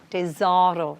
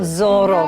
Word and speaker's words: tesoro: Tesoro. It's tesoro, not Zorro.